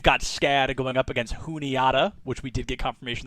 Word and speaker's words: Juniata: to playoffs we've got scada going up against juniata which we did get confirmation that is how